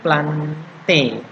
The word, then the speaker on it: plantae: Kalau hewan tadi adalah animalia, kingdomnya, sedangkan di sini kalau tumbuhannya itu plante. Walaupun tulisannya plantae ya, tapi bacanya adalah plante.